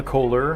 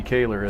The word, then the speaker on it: Kaylor: I've called Emmy Emma Kohler. I've called her Emmy Coler and now correctly pronouncing Emmy Kaylor as I understand it.